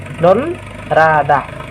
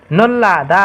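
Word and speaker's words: 놀라다: कसरी उच्चारण गर्ने त भन्दा खेरि न मा ओ नो नै भयो तल भएको ल लाई ल नै उच्चारण गरिन्छ यसको लगत्त माथि भएको यो रलाई पनि हामीले ल नै उच्चारण गरेर ल मा आ जोड्दा ला हुन्छ अनि द मा आ हुन्छ। हो यसरी चाहिँ हामीहरुले उच्चारण गर्नुपर्छ है त नल्लादा हुन्छ यो शब्दको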